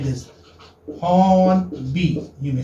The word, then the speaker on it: Hornby: Okay, this is pronounced as like this. Hornby, you may say. Hornby.